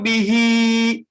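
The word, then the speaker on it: بِهْ: Yudillu bihi katsira. Kok panjang sih Bu? Iya nih orang tandanya panjang. Kalau waqaf, hi-nya jangan dibaca panjang. Kalau waqaf, hi-nya dibaca sukun, jadinya bih.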